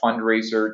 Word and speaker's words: Fundrazr: And Fundraiser, just to be clear, is spelt Fundrazr. So there's a funky spelling to that.